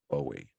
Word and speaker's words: Bowie: uh on colington Road in Buoy Maryland or would they pronounce it Bowie I'm gonna say buoy because we're from Texas um in Prince George's